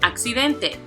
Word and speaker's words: accidente: Next, accidente. This time there are four syllables, so then it's going to have the prosodic accent. Accidente.